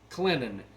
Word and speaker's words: Clinton: because they pronounce it Clinton, but I just can't say that. There's a T in the word, so since the T is there and it's not silent, it's Clinton.